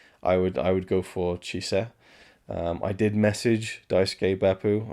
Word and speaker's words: Chise: Because, in particular, Lady Chise, that's how I would naturally pronounce it. I believe in Chris's commentary, he calls her Hise, so without the C, so there's not a ch at the beginning, even though it's Chise.